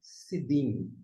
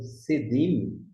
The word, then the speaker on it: Sidim: Embora que a pronúncia é sidim e não sedim, só questão de vocalização, portanto, das vogais.